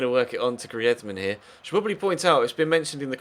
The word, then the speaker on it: Griezmann: at least he felt it was right that it was pronounced in the Spanish way I've had a few comments in the comment section recently of people saying why did you pronounce griman like that that's silly